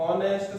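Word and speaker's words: honest: तो ऑनेस्ट में देखिए ओ ऐसे उच्चारण आता है, तो ये व्यंजन यानी कॉन्सोनेंट नहीं है, ये वोवल है, तो इससे पहले एन का यूज करना है।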